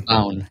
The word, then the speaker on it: Bown: Bone or Bown? Bown. It's like Brown without the R.